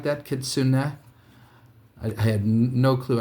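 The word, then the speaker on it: Kitsune: says the names I didn't realize I was pronouncing kitsun wrong it's kitsun or something like that kitsun I I had no clue I could have sworn it was kits soon so these are some of the cool crane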